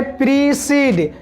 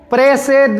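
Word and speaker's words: precede: इसे किस तरह पढ़ेंगे प्रीसीड प्रेड नहीं पढ़ना है प्रेड पढ़ोगे तो गलत हो जाएगा प्रेड नहीं पढ़ना है इसे प्रीसीड पढ़ना है प्रीसीड का मतलब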